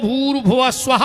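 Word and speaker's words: भूर्भुवः स्वः: हमें जोड़ के बताओ अपन बोला भूस्वाद इसमें एक शब्द कम पड़ रहा गायत्री का सही उच्चारण है ओम भूर भुव स्वाहा ओम पर ओम कोई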